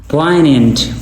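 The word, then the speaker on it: poignant: तंग करना तंग करना पोइनेंट पोइनेंट नीचे हमारे पास है पोइनेंट जी यहां पे साइलेंट है ठीक है इसका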